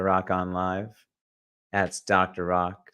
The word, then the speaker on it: Rak: Rock here. Welcome back to another Rock on Live. That's Dr. Rock, spelled R-A-K, pronounced R-O-C-K.